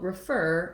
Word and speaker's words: refer: has the same stress so refer is the same as for example prefer i prefer uh i prefer blue over green um prefer um or uh incur would be another rhyming word um deserve that might be another one to